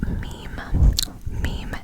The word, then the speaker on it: Mim: thinking, like a funny meme that you find on like Instagram or something. I'm talking about it's just spelled M-I-M. Now some may pronounce it Mim. It is meme.